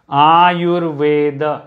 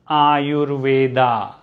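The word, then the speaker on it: आयुर्वेद: comes to my mind another common term i've seen a lot of mistakes made in pronunciation are your veda not ayurveda not ayurveda are your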